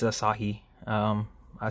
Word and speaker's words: Asahi: they're the i know i was proud i pronounced it asahi um i said a few people pronounce it